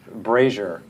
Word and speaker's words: brazier: didn't over last month I mispronounced brazier that was very funny brassiere so we so again